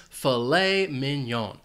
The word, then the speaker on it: filet mignon: This food is actually 2 words, and the stress is on the second syllable for each word. Filet mignon. Now, you might be wondering about why is it pronounced this way because of the spelling. Well, this is a French word.